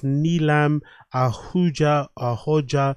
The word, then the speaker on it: Neelam Ahooja: Hopefully I pronounced it right. It's Neelam Ahooja.